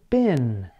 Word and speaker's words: been: These include been, the past participle of the verb be. Although it is spelled with an EE, Americans pronounce it as I.